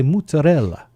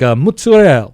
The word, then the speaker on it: mozzarella: But they real Italians, like from Italy, people I've met who like from Italy, they say mozzarella. The A is pronounced.